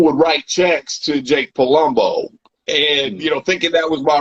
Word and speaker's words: Palumbo: When I heard Palumbo, I don't know why. I know it rhymes with Columbo, but for some reason, I'm like, maybe he was like playing with the letters inside.